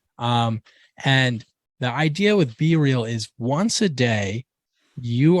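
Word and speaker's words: BeReal: It's it's spelled B E R E A L, but it also kind of sounds like be real, which is like kind of a good plan.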